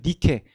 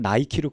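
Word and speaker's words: Nike: 그래서 니케, 영어 발음으로 그냥 나이키로 그대로 발음한 거예요.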